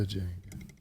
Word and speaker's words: Django: The Django. The D is silent.